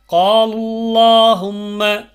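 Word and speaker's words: قالوا اللهم: கடைசியில் பாருங்கள், காலுல்லாஹும்ம, காலுல்லாஹும்ம, இங்கே அந்த காலு அப்படின்னு இருக்க இடத்துல அந்த வாவு அடுத்த இருக்கக்கூடிய அந்த அல்லாஹும்மோடு சேர்றதுனால அந்த வாவு உச்சரிக்கப்படாது. அதுக்கு அடுத்து வரக்கூடிய அல்லாஹும்மல இருக்கக்கூடிய அலிஃப் உச்சரிக்கப்படாது. அப்போது டைரெக்டாக என்ன பண்ணிடணும், காலுல்லாஹும்ம, காலுல்லாஹும்ம அப்படி ஓதும் பொழுது கனமாக அந்த லாமை உச்சரிக்கணும்.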